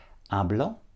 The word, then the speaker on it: hablo: I can see that nobody's saying the H at the beginning drop the HS in Spanish a blot a blush a blur now you might be